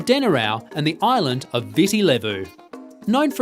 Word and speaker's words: Viti Levu: dinner-hour Island Marina the largest island visi levo pronounced Viti Levu is home to 70% of the population around